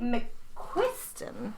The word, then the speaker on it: McQuiston: Today we're discussing Red, White, and Royal Blue, which is by Casey McQuiston.